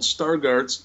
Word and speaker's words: Stargardt: want to look it up someday it's called Stargardt's dystrophy Stargardt is spelled st AR g AR dt Stargardt's macular